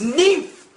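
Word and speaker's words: NIMH: And all you've had to sit through is a secret of Nim 2, and you can't even fucking pronounce its name right. Fuck you! It's pronounced Nymph.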